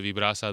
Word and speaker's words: Vibrasa: Vibbrasa.